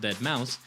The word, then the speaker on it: deadmau5: Mouse Joe Thomas Zimmerman aka deadmau5 pronounced that Mouse is a progressive house